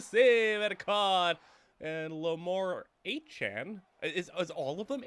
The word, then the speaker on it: Achane: and his name is I guess we pronounce this Achane now, you know, formerly what we thought was Etienne, I guess it's Achane now, so I guess I'm calling him Achane.